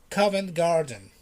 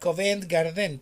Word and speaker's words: Covent Garden: marvelous place which is covent garden it's not covent garden please this is covent garden in the first setup you have to stress the word the boys covent garden covent garden so if you are